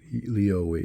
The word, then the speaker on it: Lioi: Leo, that's how you pronounce.